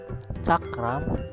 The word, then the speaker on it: cakram: So the word cakram share the same pronunciation like the C and H in the word chocolate.